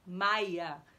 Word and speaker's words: Maja: Porque aqui na Alemanha, como eu falei, o J é Jot. Então. Maja, se escreve Maja, né? Com J, mas se fala Maia, como se fosse um I, tá?